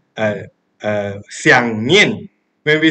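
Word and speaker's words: 念: But by looking at this word, the Chinese characters of sati or mindfulness, this word is pronounced nian in Chinese.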